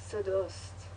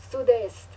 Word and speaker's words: sud-est: Did I say it wrong? It's not west. Oh no, it's east. Sud-est.